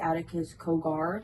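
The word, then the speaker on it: Aticus Cogar: who was on the show that wasn't ID Adakus Kogar. I don't know if I'm saying that. Am I saying it right? Attakus.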